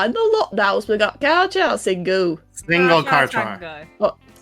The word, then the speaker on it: Carchacingu: Well, let me correct you, love. It's the No, I said it wrong. Now you're getting my brain confused. The Char, no, I said it wrong. Yes. The Carchacingu. That's how you say it. The Carchacingu. Repeat after me, everyone. It's the Carchacingu.